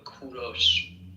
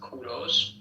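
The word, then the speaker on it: کوروش: English people call him Cyrus, but in Persian we call him Kuros. In Persian, it is pronounced Kuros, but in English you call them call him Cyrus.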